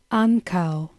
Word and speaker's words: ankaŭ: Ankaŭ. Ankaŭ. Again, we find two syllables with the stress on the first syllable.